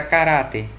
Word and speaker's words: caráter: a regra do Rouxinol a palavra caráter é o que paroxítona o dia que paroxítona segunda Seba as penúltima sílaba mais forte cará e ela terminada